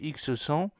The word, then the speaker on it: EPS-X00: Le système de propulsion électrique de Safran, baptisé EPS-X00, prononcé X100, qui comprend le propulseur PPS-X00, consolide sa position de leader dans le domaine de la propulsion électrique pour les petits satellites.